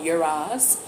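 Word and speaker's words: Uruz: The challenge in the situation is the rune called Uraz. It's spelled U-R-U-Z.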